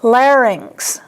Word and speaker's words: larynx: This next one, probably more than half of the population pronounces incorrectly. It is larynx. Larynx.